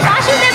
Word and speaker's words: বসুদেব: নাম হচ্ছে বাসুদেব বাসুদেব এটা কিন্তু ভুল হইছে ভালোভাবে বলেন না বাসুদেব বাসুদেব এটা মানে কাছাকাছি গেছে কিন্তু উচ্চারণটা ভুল হইছে বাসুদেব হবে না বসুদেব হবে বসুদেব বাসুদেব হচ্ছেন ভগবান শ্রীকৃষ্ণ স্বয়ং আর তার বাবা হচ্ছেন বসুদেব তাইতো তো বসুদেব আর